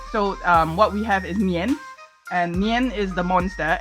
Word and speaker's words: Nian: Also, did you say his name was Nian? Yeah. Like Nyan Cat? N-I-A-N, not N-Y-A-N, N-I-A-N. Slightly different, but sort of the same, yes. So that's kind of like,